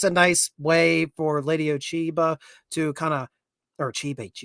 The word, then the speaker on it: Ochiba: I keep saying it wrong, but it's Ochiba. So, Oshiba. Ochiba? I think they say Ochiba, if I hear correctly.